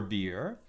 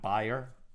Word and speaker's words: bier: So they thought to move him from his bier to a narrower bier so that, I think it's pronounced bier, right? Not buyer, but B-I-E-R.